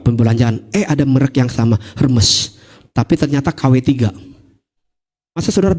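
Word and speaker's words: Hermès: Kalau saudara punya tas asli, merek Hermes. Bacanya apa? Hermes katanya. Saya baru tahu bacanya Hermes.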